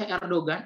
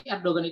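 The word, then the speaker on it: Erdoğan: gimana cara membacanya tadi Kalau game bertanduk itu nggak dibaca berarti abaikan saja langsung saja segampang itu jadi Erdogan Gimana sih cara membaca Erdogan Erdogan itu kan g-nya ada tanduknya ya kalau bahasa Turki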